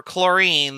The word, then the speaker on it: chlorine: common weird one for chlorine the symbol is cl there's an h in chlorine but the h is silent and it also doesn't